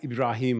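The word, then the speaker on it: إبراهيم: But Musa, Ibrahim, or Ismail, as would pronounce it in Arabic.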